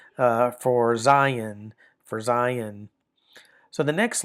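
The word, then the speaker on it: זַיִן: Zion. And the way these letters are pronounced, the name of the letter kind of gives you some help, right?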